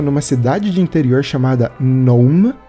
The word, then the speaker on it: Nome: Eu me lembro que o filme se passava numa cidade de interior chamada Nome. Eles falavam Nome, mas se escreve nome mesmo.